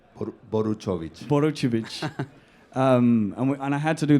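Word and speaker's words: Boruchowitz: How do you pronounce his second name? Boruchovic.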